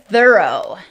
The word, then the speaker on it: thorough: Our next word is thorough. Thorough. Here's the IPA spelling. And here's how you can spell it to remember the pronunciation.